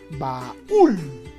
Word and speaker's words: baúl: Y diríamos, baúl, dos sílabas, ¿no?